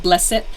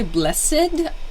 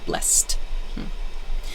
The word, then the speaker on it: blessed: It sounds, when I say it blessed, it sounds like a little bit of a T sound. Not blessed. I suppose some people would say blessed, but I get the feeling the most common pronunciation is with this T, blessed.